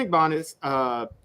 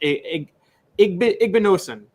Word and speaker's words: Igbinosun: But Davison Igbanez, sorry, I can't even pronounce his last name a lot of times. Igbinosun, excuse me.